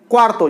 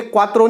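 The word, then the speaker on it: cuarto: क्वार्तो, ये क्वात्रो नहीं है, क्वार्तो है। क्वार्तो, इसकी स्पेलिंग अलग है, इसकी स्पेलिंग अलग है।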